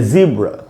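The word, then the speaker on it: zebra: आ नहीं बोल रहा है, आधा अ बोल रहा है। और उसके पहले जो वावल है ए या ई वाला, अगर इसका उच्चारण करेंगे तो ई पहले वावल आएगा, उसी पर स्ट्रेस होता है, उसी पर जोर देना होता है। तो बोलेंगे ज़ेब्रा या ज़ीब्रा।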